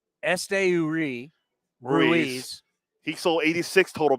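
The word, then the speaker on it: Esteury: bases last year hitting 25 home runs uh Estuary or no I'll let you say it how do you say his name Este URI Ruiz he sold 86 total bases last year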